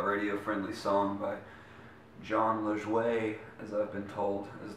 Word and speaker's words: Lajoie: This is gonna be my cover of a radio friendly song by Jon Lajoie, as I've been told is the right way to say it.